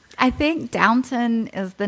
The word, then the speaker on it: Downton: love that not Downton is it Downton Abbey it's Downton downtown no I've been saying it wrong all these Hey yeah